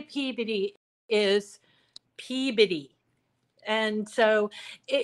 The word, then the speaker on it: Peabody: Um it's it's spelled Peabody but we say Peabody.